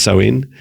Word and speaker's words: Samhain: So happy Halloween, happy Samhain, Samhain, as it's pronounced as Samhain.